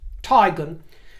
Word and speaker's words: Teigen: and she says and confirmed my own suspicions upon looking at the name and the spelling that it is pronounced tigon so I'm going with